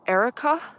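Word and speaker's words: Arrochar: a place up by Erica and I love the sound of that place because it sounds like the girl's name Erica e-r-i-c-a but it's spelled a-r-r-o-c-h-a-r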